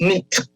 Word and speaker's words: night: just give one example night that used to be pronounced neat that gh had a sound that symbol is no longer a part of english it's still a part